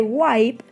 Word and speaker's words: wipe: Se dice wipe. Y en plural es wipes o wipes, ¿sí? Pero se escribe así. Por ejemplo, cuando dicen wiper, eso no existe. Wiper no existe. Wipe, así escrito, no existe. Es wipe o wipes, ¿sí?